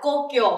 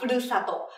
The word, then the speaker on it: 故郷: Cách đọc ở đây sẽ là Kokyo hoặc là Furusato.